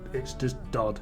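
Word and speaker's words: Død: Some odd reason a lot of people think it's Dod-Regnbue. I can understand the whole pronunciation of Regnbue, but Dod, no, please do not lump me in with the disciples of douchery. It's just Dod, it means dead.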